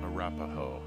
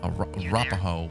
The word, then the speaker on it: Arapaho: I don't even know how to pronounce that. I'm sorry. Here, let Henry do the work. Camp Arapaho. Arapaho.